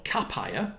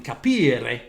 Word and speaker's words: capire: So this we internally referred to this as, well, capire, which is a bad, on my behalf, pronunciation of the Italian capire, to understand, of course,